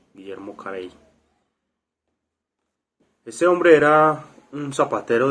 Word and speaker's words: Guillermo Carey: es guillermo harvey pues para no irnos a equivocar vamos a dar lo como se pronuncia en el español guillermo carey ese hombre era un